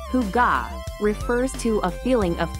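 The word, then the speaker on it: hygge: in the world the Danish concept of Higg pronounced Huga refers to a feeling of coziness and contentment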